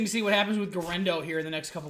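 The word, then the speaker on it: Guerendo: And Garendo. Am I pronouncing that right?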